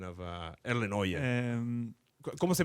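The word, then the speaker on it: Erlend Øye: But the R is so soft that it's really impossible for someone else to say it. So I prefer when someone just says Erlend Oye.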